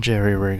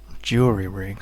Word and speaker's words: jury-rig: And then I can just sort of jerry-rig a little... Jury-rig, sorry. It's not jerry-rig. I always pronounce that wrong.